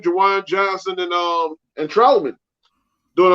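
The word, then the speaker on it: Juwan: San Diego, yeah, with Jawan that's how you say his name, Jawan Johnson and Troutman.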